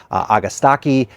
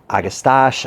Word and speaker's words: Agastache: I've heard it pronounced Agastache, Agastache, Agastache, Agastache.